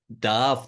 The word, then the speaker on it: Damh: stage name it's always a stag name because Darth the part as it is pronounced correctly in Gaelic means also stack it's